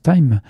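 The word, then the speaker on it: thyme: Et en anglais, le thym, on le prononce time.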